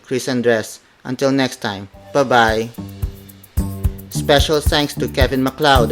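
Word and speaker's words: babay: The Filipino word would be bye-bye, bye-bye, bye-bye. It is spelled as B-A-B-A-Y.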